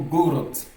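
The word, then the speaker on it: город: Dans le mot gorot. Gorot. Got le D ici se prononce T.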